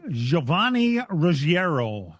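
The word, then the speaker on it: Giovanni Ruggiero: Um also the Arca series raced at U Pocono uh Giovanni Roierro was your winner. That's that's really how you pronounce his name.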